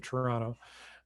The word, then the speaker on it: Toronto: canada just west of toronto um and yeah that second t is silent so i want to